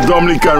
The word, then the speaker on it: Dominica: Dominica it is spelled d-o-m-i-n-i-c-e it is not Dominican Republic it is pronounced Dominica and is situated between Guadalupe and